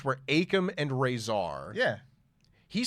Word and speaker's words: Akam: I always thought their names were Akam and Razor. Yeah. He said both of those names like weird. Akam and Razor? Yeah, it was bizarre. He called them like Occam. Obviously, he's phonetically.